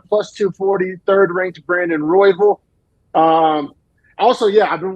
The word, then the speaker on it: Royval: and apparently it's not Roy Val not Roy V royville sounds like how like an Oklahoma like football coach would say it but apparently that's how